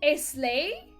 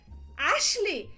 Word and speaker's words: Ashley: How do you pronounce that? Islay? Ashley! It's Ashley! It's Ashley!